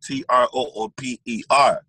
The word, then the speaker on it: Troopa: Like, so his name is spelled Trooper. Mm-hmm. So I was like, if I'm gonna say Trooper, my name, I'm gonna put Troopa.